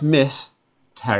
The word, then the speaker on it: Misterra: It feels like it's mysterious. But it's Miss Terra.